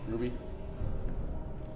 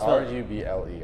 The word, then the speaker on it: ruble: Ruby. Ruby? Ruby. You say rubies. Oh, fuck. I said Ruby. Well, you gotta specify it. What is spell it. It's R-U-B-L-E.